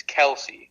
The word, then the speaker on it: Kelce: Oh, it just irritates me when people say Kelce. I'm like, it's Kelsey. Kelsey, yes. You do pronounce the C-E.